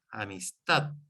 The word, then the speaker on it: amistad: O sea, donde yo aquí digo amistad, marco el tono, el acento, pero con el acento tonal solamente, en la AD, amistad, o comer, pongo la acentuación ahí.